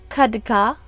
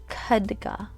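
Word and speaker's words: खड्ग: using you're using your kadha kaduka sorry kaduga hopefully i'm saying it correctly because when you speak foreign languages in this case this is my foreign language here if you mispronounce uh even a syllable it could change the meaning of the term so it's khadga okay and this divine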